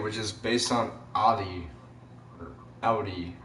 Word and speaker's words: Audi: is based on Adi outie actually because that's actually the proper pronunciation despite what some people